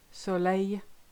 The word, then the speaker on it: soleil: When you've got ILL, AIL, EIA, L, the L sound totally disappears. So listen to those examples. Vieille, aille, travail, famille, fille, soleil, Guillaume. I think you get the idea. You just replace it with a long E and you'll be fine.